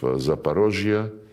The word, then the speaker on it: Zaporozhye: And when we now liberate remaining parts of Zaporozhye, this is the Russian way to pronounce it, and Kherson, the people,